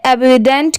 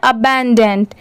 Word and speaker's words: abundant: अब बहुत सारे लोग सोचेंगे कि ABU है तो एबिडेंट क्यों नहीं पढ़ेंगे, तो नहीं, इसकी प्रोनाउंसिएशन है अबैंडेंट, ठीक है। ABUNDANT इसे पढ़ते हैं अबैंडेंट।